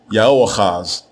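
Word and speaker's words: Yehoahaz: So what we have in this text is the phrase Ya'ohazi of Ya'odah, or to say it correctly in Hebrew, Ya'oachaz of Ya'odah.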